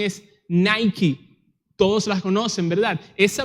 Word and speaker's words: Nike: Los dominicanos la pronuncian Nike y la pronunciación es Nike.